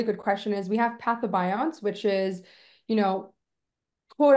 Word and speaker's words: pathobionts: It's PATHO, patho, and then bionts, BIOTNTS, BIONTS. Pathobionts.